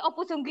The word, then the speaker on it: Ompusunggu: Daniel gimana bacanya? Ompu Sunggu.